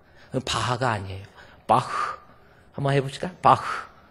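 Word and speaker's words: Bach: 그래요 최하 발음이 최하 발음이 모음 앞에서는 흐 발음 그래서 B 바 바하를 우리는 바하 그러잖아요 그 일본 애들이 이상하게 만들어 놓은 거야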